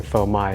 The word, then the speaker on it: phô mai: lot of Vietnamese people try to pronounce fromage but they kept on saying fomai and I I love how